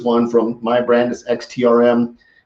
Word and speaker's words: XTRM: is up and on xt RM it's not pronounced extreme it's icy xtr m